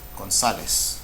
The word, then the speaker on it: González: Look at this word here, González, González, González is grave. Does it end with a vowel? So we don't do this, so we do mark it, González.